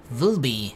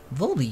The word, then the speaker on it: VLBI: Vilby. I'll just call I'll pronounce the word. I won't say the letters. Vilby Volby used different radio telescopes from around the world. It's like it's a word. Volby.